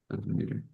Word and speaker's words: Van Meter: Is it Van Meter? Is that how you pronounce it? That's correct. Van Meter.